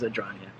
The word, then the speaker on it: Adragna: Spelled like Adragna. Like a dragon, because he is kind of like the lizard king. Yeah, there is a dragon in the name.